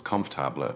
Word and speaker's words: comfortable: In British English, we often pronounce this with three syllables, comaba, rather than four. It flows much better.